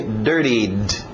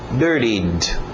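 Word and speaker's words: dirtied: Dirty a garganta Dirty passado regular e D no final mas vamos fazer só o som de D dired dired isso she Dirt my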